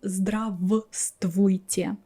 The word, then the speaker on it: здравствуйте: people, I don't pronounce one of them. So it happens in other words too, like чувство.